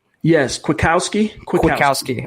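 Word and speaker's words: Kwiatkoski: down finally right yes quick Kowski quick with Kowski okay saying quick and now ski quick Kowski because I hurt though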